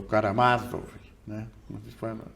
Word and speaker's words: Karamazov: poucos anos já tinha lido quase tudo irmãos Caramassov, o o Karamazov, né, como se fala, o Ah, L Tor